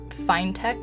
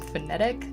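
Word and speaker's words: Finetec: to be I think they're fine tech is how it's pronounced although for a little while I was calling them phonetic don't make fun of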